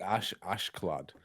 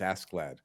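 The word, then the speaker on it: Askeladd: it's like Ashklad. I'm just like, True. no, it's Asklad.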